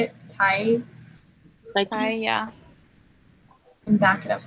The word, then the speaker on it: Tighe: Tighe, yeah. And back it up with evidence. There isn't like. Oh, there. Okay. There Yeah. Sorry, I completely missed that. Start with a statement comparing Burke and Tighe, then back it up with evidence.